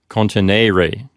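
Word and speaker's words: continere: it's second conjugation okay it's not contineo contenere that would make it third conjugation because we'd have a short e there no instead it's contineo continerae so now that we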